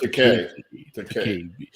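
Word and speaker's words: Takei: And George Takai basically sent out a tweet. It's pronounced Takai.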